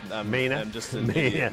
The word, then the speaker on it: Maine: I thought the at the end was a syllable, but it's Maine.